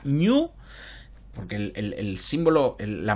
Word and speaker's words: GNU: género cuando le preguntaron cómo se pronuncia esto se pronuncia new porque el símbolo en